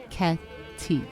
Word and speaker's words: cicchetti: This is where we discovered Cicchetti, pronounced Chzhed, Cicchetti, Venice's version of small bites.